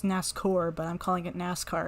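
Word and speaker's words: Nascour: not going to the coliseum there's our boy nascar again and i know i know it's pronounced nascor but i'm calling it nascar because that's what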